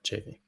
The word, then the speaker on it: Chaffee: Did I say it right? Chaffee? Yeah, Chaffee. Chaffee.